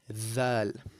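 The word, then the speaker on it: ذال: The next letter we have is dhal, right? So the th in the word the, right? The heavy th is very similar to the pronunciation of dhal, right?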